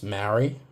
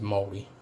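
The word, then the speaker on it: Māori: Um, so some people pronounce Maraui, but the proper pronunciation is Moldi.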